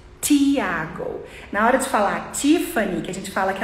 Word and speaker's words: Tiffany: na hora de falar Tiffany que a gente fala que ela marca azulzinha né o azul Tiffany que é esse azul aqui a gente fala Tiffany mas o americano fala Tiffany bem suave Tiffany fé Esse é o